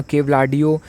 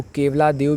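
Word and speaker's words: Keoladeo: इसके अलावा केवलाडियो, जिसको केवलादेव भी कुछ लोग बोलते हैं, कुछ लोग इंग्लिश में केवलाडियो प्रोनाउंस करते हैं, तो ये केवलाडियो नेशनल पार्क भी आपको राजस्थान में मिलने वाला है।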